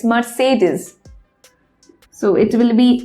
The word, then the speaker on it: Mercedes: loca course a Mercedes but it's not Mercedes its ma say these it's Mercedes so it will be